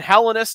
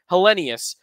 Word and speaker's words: Helenius: all though cona helenus we're going helenus not helenius helenus is what he said after the draft his last name is pronounced as so that's what we're